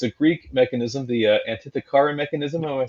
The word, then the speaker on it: Antikythera: like this because it's a Greek mechanism, the Antikythera mechanism. Am I saying that right? Antikythera mechanism. Antikythera, thank you.